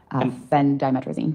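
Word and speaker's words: phendimetrazine: Fen Dtrizine.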